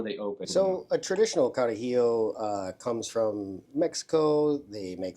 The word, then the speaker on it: Carajillo: I had to say it the right way because I don't have a good way of pronouncing it, but it's Carajillo.